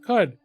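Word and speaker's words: Qud: coock yeah that's right well it's caves of could and could could is q u d so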